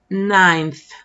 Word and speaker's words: ninth: Ninth. No, no me comí la E. Así se escribe.